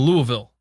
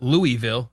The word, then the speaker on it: Louisville: It's like if you're from Louisville, it's not Louisville, it's Louisville. Yeah.